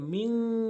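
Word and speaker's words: من: হবে এভাবে পড়বো এরপর যে ভুলটি করি মিন বলি বলতে হবে মিন নাকের ভিতরে নিয়ে পড়তে হবে মিম ইকফায়ে হাকিকির একটা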